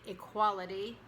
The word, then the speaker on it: equality: So we don't really say the E, it's reduced in equality, but then the E is stressed when you say equal. Equal rights, equality.